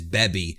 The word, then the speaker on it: Baby: of my old videos I actually refer to baby as beby because I went with the Japanese pronunciation but it's really the same thing because baby and bebi are the same word